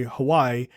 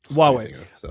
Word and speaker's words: Huawei: shut down an investigation into a Chinese company Hawaii um uh or Huawei or whatever it is how it's pronounced uh Huawei Huawei um because they actually had like spyware and